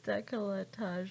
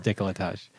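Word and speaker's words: décolletage: you pronounce it decolletage i thought it was decolletage or something i don't know it is decolletage so i need to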